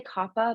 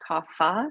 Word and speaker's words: Kapha: then your copper and i say kappa but it could also be pronounced kapha because it's spelled k-a-p-h-a so these are your